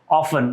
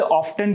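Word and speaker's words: often: इसे ऑफ्टन कहते हैं, कुछ स्टूडेंट इसे ऑफन कहते हैं। अब जो ऑफन है वो एक जो प्रोनाउंसिएशन है वो यूके ब्रिटिश एक्सेंट है, और ऑफ्टन जो है वो अमेरिकन एक्सेंट है, तो हमें उस न्यूट्रल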